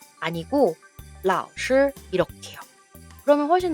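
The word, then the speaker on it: 老师: 老师 아니고 老师 이렇게요.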